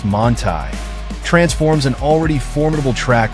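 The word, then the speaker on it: Manthey: to start the day the manthy kit pronounced monai transforms an already formidable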